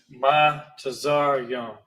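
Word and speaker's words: מצרים: Another example is the word bondage or Egypt, which is pronounced ma tazar yum. Ma tazar yum.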